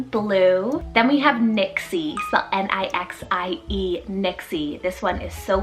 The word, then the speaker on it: Nixie: hindi rooted meaning blue then we have nixie n-i-x-i-e nixie this one is so fun it's german